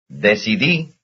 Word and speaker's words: decidí: Decidí. Decidí. That's the last syllable.